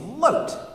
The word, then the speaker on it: Lote: Friend number 3, his name was Lote, which isn't a word and just rhymes with Vote.